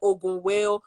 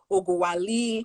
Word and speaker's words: Ogunwale: I'll walk you through it. Ogun, okay, Ogunwale.